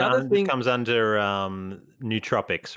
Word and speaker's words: nootropics: uh was it no objects no nootropics nootropics nootropics there we go kind of pronounce it it's weird one so it's n